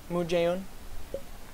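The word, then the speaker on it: Moon Jae-in: South Korean President Moon Jae-un. Wait, is that how you say his name? Yeah, Moon Jae-un. I want to, if I said his name wrong, that would be bad.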